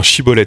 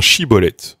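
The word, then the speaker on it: schibboleth: C'est quelque part c'est un chibolet.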